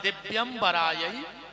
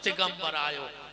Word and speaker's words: दिव्यंबरायै: शुद्ध उच्चारण है दिव्यंबरायै च दिगंबरायो, और आदमी जल्दी जल्दी में बोलत है दिगंबरायै च दिगंबरायो, दोनों बार दिगंबर दिगंबर कहता है।